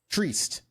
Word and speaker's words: Trieste: That day, a flight from, I'm going to butcher the name, is Trieste? How would you boys say the name of that city? Trieste. Okay. Trieste? Trieste. Yeah, I'll say either one.